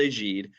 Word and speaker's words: Egide: It's spelled Egide. We've heard all sorts of hacks on this name, so throw it at us. We'll know what you're talking about, but it's called Agide, and it is a